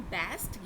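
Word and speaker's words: bast: और जो फ्लोएम है इसको हम बैस्ट या बास्ट, दोनों में से कोई भी प्रोनाउंसिएशन आप ले सकते हैं, बास्ट या बेस्ट, ये इस नाम से जाना जाता है।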